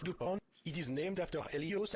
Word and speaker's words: DuPont: makes the model airplane blue a it is pronounced dupont it is named after helios uh thanks for